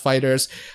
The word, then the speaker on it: FighterZ: It is pronounced Fighters.